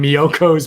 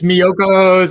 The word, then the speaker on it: Miyoko's: It's Miyoko's. I think I'm writing it out. Miyoko's. It's Miyokos. Miyoko's.